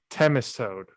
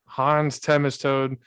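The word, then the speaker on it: Themistode: not butcher his name temistode is how you pronounce his name hans temistode the he the the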